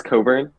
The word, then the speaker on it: Cockburn: oh i'm sorry crap did i mispronounce it was it it's coburn that's weird you didn't know it was coburn no he was i